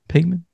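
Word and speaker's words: Paimon: you say the name again is it P payman something like that yeah payman yeah you know what what are you talking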